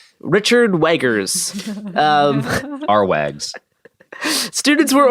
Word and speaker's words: Wagner: a German composer Wagner Garrison it's important to pronounce things correct Wagner it's to w Richard weggers um our Wags students were ordered to all